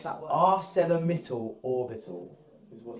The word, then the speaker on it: ArcelorMittal Orbit: How do you pronounce that word? ArcelorMittal Orbital is what it's called.